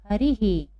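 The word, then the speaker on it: हरिः: विसर्ग लगा है तो अभी आ की मात्रा थी इसलिए हमने यहाँ हा किया था, अब यहाँ छोटी ई की है तो हम यहाँ क्या करेंगे? ही। क्या करेंगे उच्चारण? ही। तो हरी का क्या हो जाएगा? क्या पढ़ेंगे हम इसमें? हरि ही। क्या पढ़ेंगे? हरि ही।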